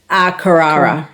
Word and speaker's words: Carrara: Cassandra's done this festival before, and I will be doing it at, is it Carrara Markets? Is that how you say it, Cass? Carrara on the Gold Coast.